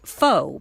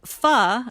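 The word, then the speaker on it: phở: got to be careful yes yes that's because foe properly pronounced is fu and then you get into some word play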